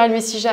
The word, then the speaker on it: Almecija: Est-ce que c'est je veux dire Almesija à la française.